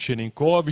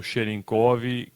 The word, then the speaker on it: Cherenkov: efeito, que é Pavel Cherenkov, em tcheco, que é a origem dele. O C tem um acento, né, que faz esse som em inglês como se fosse Cherenkov, até onde a gente consegue pronunciar os sons de tcheco, né.